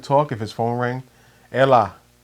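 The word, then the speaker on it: Έλα: time he would talk if his phone rang Ella right that's how you say it and then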